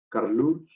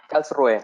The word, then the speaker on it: Karlsruhe: Diego Cisterna es investigador asociado del Instituto de Tecnología de Karlsruhe en Alemania.